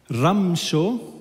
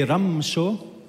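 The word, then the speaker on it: ܪܡܫܐ: I'll start with Aramaic ramsho say ramsho means good evening one more time how you pronounce it from the bottom of your throat and push air out it's different muscles I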